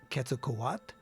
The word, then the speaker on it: Quetzalcoatl: that because you know quetzalcoat some people call them quetzalcoatl how you pronounce it is quetzalcoat so if you hear me say that don't say hey you're saying it wrong no i'm not